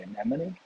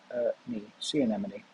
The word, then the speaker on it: anemone: want to stress enough as opposed to see anemone we'll see anonymity sea animal nope see anemone so if you want to know how to